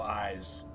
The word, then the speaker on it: Ys: it was the original eyes. It's spelled Y apostrophe S, but the original eyes on the Sega.